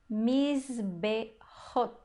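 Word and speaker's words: מזבחות: E a segunda palavra, Mizbehot. Mizbehot. Percebe que a gente pronuncia o zain aqui, né?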